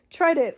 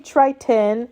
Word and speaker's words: Triton: And then this is your grandfather, Trident. Oh no. Blah, blah, blah. Oh, God damn it. I always say his name wrong. His name's King Triton, and he has the trident.